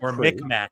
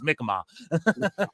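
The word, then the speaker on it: Mi'kmaq: I am migma well I said mcmack is how yall say it and spell it but it's mkma is how he said so yeah yes hey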